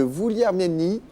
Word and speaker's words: Vouliagmeni: Et puis, là, on est du côté de Vouliagmeni. Oui. C'est comme ça que ça se prononce.